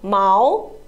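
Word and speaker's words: 毛: the difference is Mal no it is the first tone Mao and Mao is the second tone Mao Mao okay so can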